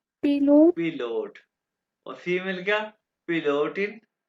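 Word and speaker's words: Pilot: अच्छा ये German alphabet के हिसाब से कैसे प्रोनाउंस करेंगे पायलट को? पिलोट।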